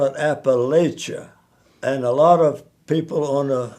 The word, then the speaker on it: Appalachia: Snake said Eve, if you try to deceive, I'll throw this apple at you.